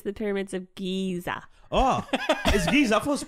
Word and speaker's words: Giza: specific huh which pyramids what did you say Gaza it's here anyway but it's the Pyramids of Giza oh geez I supposed to pronounce Gaza Strip Gaza Gaza Strip you weren't